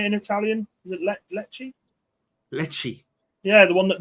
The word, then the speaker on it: Lecce: Is it Lecce?